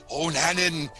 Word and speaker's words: O'Nanan: O'Nanan rhymes with Montanan, James Buchanan, oxyhemocyanin, bananan.